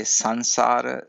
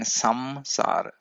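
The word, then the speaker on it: samsāra: For example, it is more correct to say sanssar than samsara because the meaning comes right out with sanssar.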